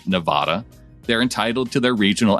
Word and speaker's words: Nevada: can assure you that nevada is an east coast pronunciation no self-respecting westerner even californians would say it and while new yorkers might say nevada they're entitled to their